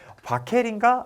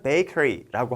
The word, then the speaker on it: bakery: 처음에 영어를 공부할 때 저는 발음을 이 철자를 기준으로 생각해 봤어요. 그래서 A는 R라고 발음을 하고 E는 우리말로 L라고 발음하는 것 같은데 그러면 이 단어는 어떻게 읽어야 될까? 바켈인가? 라고 생각을 했던 거죠. 하지만 실제로는 bakery라고 합니다. 이 얘기를 왜 했냐?